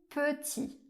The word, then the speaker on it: petit: La lettre E fait le sont /ø/ fermé. Comme dans les mots je, me ou petit par exemple.